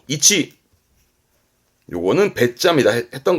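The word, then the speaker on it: 位置: 발음 또한 쉽지요. 이치, 음은 치니까요. 이치.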